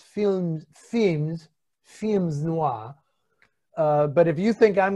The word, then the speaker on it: films noir: the correct pronunciation is femzwa it there is the s it's film themed films noir but if you think